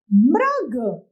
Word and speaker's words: मृग: अगला है मृग मृग, यानी म के साथ में री की मात्रा लगते ही तो उच्चारण क्या हो जाएगा? मृ, और ग जोड़ने पर शब्द बन जाएगा हमारा मृग मृग।